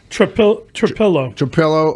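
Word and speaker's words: Trapilo: Is that how you pronounce his name? Trapillo? Trapillo, Ozzy.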